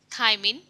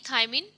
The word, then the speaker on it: thiamine: Scientific name of vitamin B is thiamine, and thiamine's pronunciation rhymes with thyroid, and thyroid gland is present in the neck.